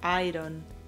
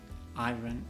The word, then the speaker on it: iron: Y también el problema aquí es que pronunciamos todas las letras y decimos iron. Iron, no es correcto. Se pronuncia iron.